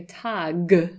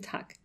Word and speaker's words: Tag: So when Germans say, for example, Guten Tag, they don't say Tag, yeah, as I used to say as an English speaker. They say Guten Tag. And it almost sounds like a K at, yeah, the end of it, a, yeah, voiceless sound.